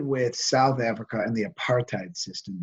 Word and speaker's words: apartheid: So let me start by calling attention to this word here on the lecture outline, apartheid. That's how that's pronounced. So if we were in class, I'd say after me, apartheid.